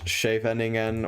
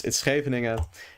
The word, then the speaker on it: Scheveningen: Yeah, you don't pronounce it as Scheveningen, or, you know, whatever the English people pronounce it as. Yeah, this is a Dutch place, and of course, yeah, I live in the Netherlands, so I know how to pronounce it. It's Scheveningen, and this opening is a